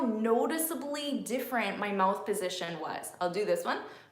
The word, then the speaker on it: position: that's position position okay position is a shin so my sound I'm doing this because that's where this sound is on my face so look at what my mouth is doing posit it and the sound is like up here position position position it